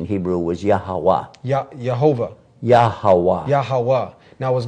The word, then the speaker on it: Yahweh: They know that the pronunciation in Hebrew was Yahweh.